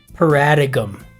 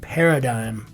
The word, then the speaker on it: paradigm: Paradicum is how I used to pronounce that when I was a freshman in college. I'd never been exposed to the word paradigm verbally.